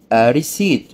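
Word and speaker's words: receipt: اي اي تاخذ المصدر ايصال تعني ريسيت ريسيت ولاحظ ان البي هنا لا تنطق في كلمه ايصال البي لا تنطق ري قبل تعني بفور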